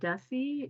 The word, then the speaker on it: Desi: I believe you also use the word uh Desi is that right am I pronouncing that correctly yeah could you talk about